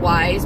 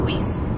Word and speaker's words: Weis: Last year, I shop at, they say it's called Wise, but as a teacher, I have a hard time calling the store Wise because it's not how Wise is spelled. So I call it Weiss.